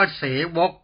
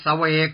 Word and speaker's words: เสวก: ไร้ กังวล 7 เสวก คำ นี้ ต้อง อ่าน ว่า เสวก อ่าน เสวก สอบ ตก ทุก แห่ง แ่ง หน ชื่อ